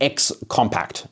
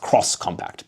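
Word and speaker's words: X-Compact: They also revealed the Vision X compact, but it's supposed to be pronounced cross compact, by the way.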